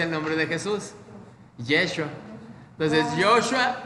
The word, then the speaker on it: Yeshua: ¿Y cómo se pronuncia el nombre de Jesús? Yeshua.